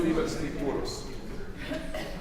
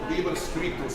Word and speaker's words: Liber scriptus: 162, Liber Scripturus. I'm adding an extra syllable. Liber Scriptus, Proferetus.